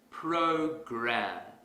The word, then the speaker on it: program: to our previous example suppose I pronounce this word as poker that's incorrect because the our sound is missing if I want to fix this mistake quickly I will exaggerate the awesome program program program here's another example let's